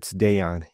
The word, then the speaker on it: Dejan: I would say like his first name is kind of like Deion Sanders, but it's Dejan.